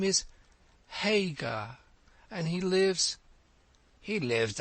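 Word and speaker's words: Haigha: when he's happy his name's his name is hagar he pronounced it so as to rhyme with maya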